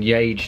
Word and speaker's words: Yage: part of the mystery I actually say y to rhyme with vague rather than yage to rhyme with age either way it's not